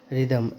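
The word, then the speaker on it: rhythm: ई एस T honest रिदम आर एच वाई टी एच एम देखो यहां पे एच है लेकिन फ फिर भी साइलेंट है डब् एच एटी वट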